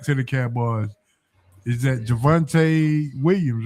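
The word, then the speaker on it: Javonte Williams: Is that Javvante Williams, right?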